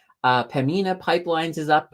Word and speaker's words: Pembina: I gotta be careful not to pronounce that B because it's silent. Pembina Pipelines is up 1%, so that's not too shabby.